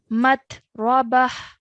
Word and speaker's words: متربة: Yeah, we have a h sound at the end. Matrabah.